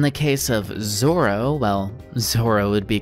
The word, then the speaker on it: Zoro: Zolo the other Zoro Japanese doesn't have an l sound wow I'm bringing up